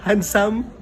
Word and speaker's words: handsome: Handsome. Again? Handsome. Correct. Handsome. It's silent letter D.